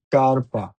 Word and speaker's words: scarpa: যখন এসএচই এর পরে আ, ও অথবা উ থাকে তখন উচ্চারণ হবে স্ক। যেমন এসএচইআ স্কা, এসএচইও স্কো, এসএচইউ স্কু। Scarpa, S-C-A, Sca, R-P-A, scarpa, scopa, S-C-O, Scopia-pa, scopa, scuola, S-C-U, Scuola, scuola.